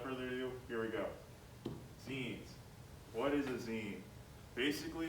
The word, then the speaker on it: zine: That's right, it's pronounced zine as in like a magazine.